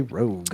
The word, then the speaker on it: ROG: Yeah, it's not spelled rogue, but you just say rogue.